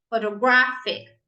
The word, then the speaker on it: photographic: Photographic. Yeah, now we stress the third syllable.